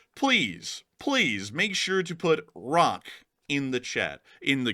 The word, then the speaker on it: ROC: make sure to put rock in the chat, in the comments section below. That is R-O-C, not spelled like rock, like a rock, but rock is in R-O-C, because R-O-C stands for